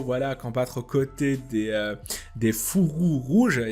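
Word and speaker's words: Fourreaux Rouges: Il y avait des gens qui me demandaient pourquoi tu dis fou rouge, parce qu'ils pensent que je dis pas le R. Non, c'est juste que je le prononce rapidement. Fou rouge.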